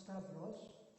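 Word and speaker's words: σταυρός: In modern Greek, I'm told it's pronounced stavros, and it's the person's name, but it means cross.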